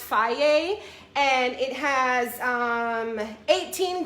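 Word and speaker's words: Fage: this one right here which is pronounced faye and it has um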